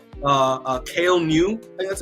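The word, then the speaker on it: Kael Ngu: I'm gonna also but his name uh uh kale new that's how you say his name uh it's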